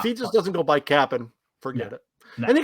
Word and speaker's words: Cap'n: And it's Cap'n. Cap'n Crunch, yes. And actually, it's spelled that way too.